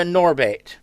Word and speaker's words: Gnorbit: I is what's known as a Norbit, but I don't say the G.